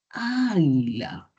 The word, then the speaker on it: águila: Sucede que si observan aquí la palabra águila, la mayor fuerza de voz está en la vocal inicial, que es la A. Entonces, esta sería la sílaba tónica, ¿cierto? Y las otras sílabas átonas. No es águila ni es águila, es águila.